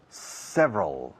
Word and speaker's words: several: There are several. Several es 3 sílabas oficialmente, pero 2 cuando hablamos.